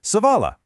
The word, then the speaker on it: സവാള: In Malayalam, we call this savala. Your turn. Savala. Savala. This is a brilliant word to know cuz savala is basically the foundation for almost every single delicious Kerala curry out there.